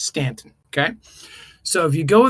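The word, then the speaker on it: Staunton: Stanton, by the way, if anyone's never been to Stanton, Virginia, it's spelled Stuntton, but you immediately know that you're not local if you say Stuntton. It's It's Stanton.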